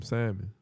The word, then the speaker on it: salmon: Um I had got some some salmon. You say salmon or salmon? Salmon. Salmon. Some people don't pronounce the L.